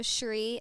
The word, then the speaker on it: Shri: Google the yoga studio Shri Sr r i people always like how do you pronounce it it it's SRI and Shri means like resplendence Beauty